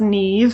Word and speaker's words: Niamh: Actually, my name is pronounced Niamh. It's one of these funny Irish names that does not sound like it looks.